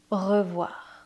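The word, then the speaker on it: au revoir: Ovoir. When you see a plus u in French, it's the sound o like the letter O.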